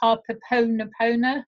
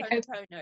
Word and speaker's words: Ho'oponopono: Ho, it's ho, Yes. opono, pono. Okay. Ho'oponopono. And Right.